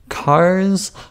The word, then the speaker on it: Carss: So that's cars with one R, two S's. Yes, that second S is silent.